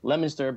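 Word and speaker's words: Leominster: UFO Conference in October uh which happens in lemonster Massachusetts um which is pronounced lemonster but spelled Leo Minster okay uh is uh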